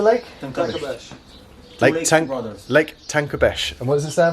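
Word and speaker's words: Tancabești: a lake look at what's the how'd you pronounce the lake okay tank runners lake tanker Besh and what is this there for the leeks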